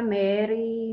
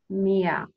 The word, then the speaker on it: Meer: And one of those people was Fatima Meer. Now I want you to say it for me three times. It's not Fatima. Not Fatima Mary, Mary. It's Fatima Meer.